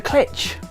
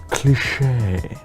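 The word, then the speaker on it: cliché: pronunciation of his surname you must be professor klitsch it's cliche cliches aren't just linguistic either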